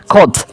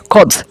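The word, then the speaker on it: خود: কাজেই এর উচ্চারণ হবে খদ।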